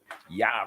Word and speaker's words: Jah: Oh, this is coming from Osiris, Asar, Lazarus, Elazar, Jah Rastafari. Yah Rastafari. You can say it like that too.